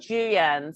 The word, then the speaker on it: Jooyoun: my middle name yeah can you pronounce it for me before i try it's julian so it's julian okay julian